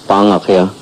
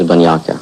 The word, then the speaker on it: Banyaka: Well, the most correct way of saying it in Hopi is Bangakya, but the closest that most people come is Banyaka.